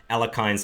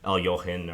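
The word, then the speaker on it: Alekhine: alakin defense flavor and I know I'm pronouncing alakin improperly uh it's just kind of the Americanized way of pronouncing it I think it's more um it's more noticeable to people when you say it that way versus El yohen or the correct pronunciations pronunciation okay A5 I'm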